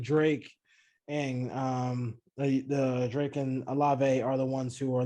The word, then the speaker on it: Olave: So we got Garrett Wilson, we got Chris Olave.